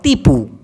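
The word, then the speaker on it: tipu: ভাষায় বলা হয় টিপু কিন্তু উচ্চারণটা হয় তিপু টিপু আবার সত্যকে মালয়েশিয়ান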